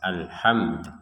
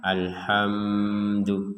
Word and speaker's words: alhamdu: Kata alhamdu ini kita bacanya untuk mimnya itu dibacanya dengan jelas alhamdu. Jadi jangan sampai alhamdu.